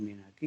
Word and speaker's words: menarche: What is मीनार्क या मीनार्की कहते हैं। ध्यान रखना प्रोनाउंसिएशन, MENARCHE, मीनार्क या मीनार्की कहते हैं।